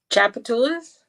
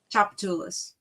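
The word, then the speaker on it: Tchoupitoulas: God or you know chapatas the street it starts with a T not a c so chapatas chapatas and don't ask me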